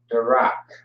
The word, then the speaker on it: Darak: It's going to be D, A, and then you have the R and the K. All right. Which is going to be R, A, K. Darak. Darak. That's how you pronounce that word. And Darak, the A is going to drop off front for the K.